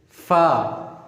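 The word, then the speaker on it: فاء: The next letter is fa, fa, fa. This is the easiest one. The same like we pronounce in English, like a letter which is F, F for fish.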